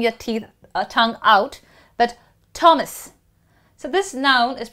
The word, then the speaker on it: Thomas: Thomas, practically H is silent, or you have to aspirate your T a little more, Thomas.